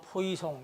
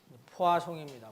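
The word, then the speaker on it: Poisson: 이 불란서 사람이기 때문에 발음이 딱 읽으면 포이송 이렇게 되겠지만 포아송입니다.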